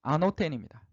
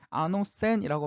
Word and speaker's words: ἄνωθεν: 거듭나야 된다라는 것은 당시에 헬라어로 뭐냐면 아노텐입니다. 아노센이라고 발음을 하기도 합니다.